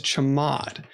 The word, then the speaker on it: chmod: command to modify the permissions in bash is chamod so c-h-m-o-d so there are two ways you can use the chamod command you can use a letters to represent